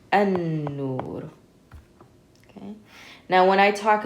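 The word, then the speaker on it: النور: So we skip over this lam, and instead of saying al, we say an. So this would be pronounced an-nur.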